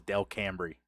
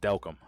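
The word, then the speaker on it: Delcambre: it the way that it's spelled it spells Del cambrie but it's pronounced delcom I don't know it's crazy it's weird but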